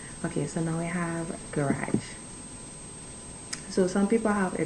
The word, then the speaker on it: garage: low garage look garage so we say garage blue garage this is about the exact same way so you have no